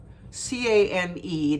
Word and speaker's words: Cane Corso: Cane Corso, C-A-N-E. They're Italian Mastiffs, and it's pronounced Cane, and then Corso is C-O-R-S-O.